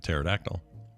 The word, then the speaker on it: pterodactyl: I mean, my initial thought is usually that the first letter is never silent, but that's not true, as you just explained with pterodactyl.